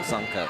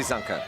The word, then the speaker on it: Zunker: I said Zunker and I was just told Zunker, so Chelsea Zunker.